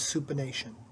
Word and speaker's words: supination: incorrectly pronounced supination as supination but the correct pronunciation is supination moving from palm down to palm up is supination when your forearm is in the supine position